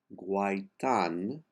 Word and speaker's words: guaitant: Guaitan, the last T is silent.